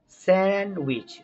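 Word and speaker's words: sandwich: যেমন handsome, D silent. স্যান্ডউইচ, D silent.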